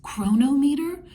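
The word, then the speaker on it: Cronometer: not use that I use one that I pronounce chronometer so c-r-o-n-o-m-e-t-e-r and I'll put a picture of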